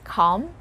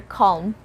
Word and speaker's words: calm: 15 come again calm so you can either pronounce it as calm or calm pronouncing the letter l for the second one for example sentence let's